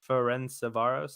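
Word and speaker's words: Ferencváros: there barcelona destroying winning that group which is friend savaros ferenzovaros oh yeah you pronounce it yes yes yes good game messi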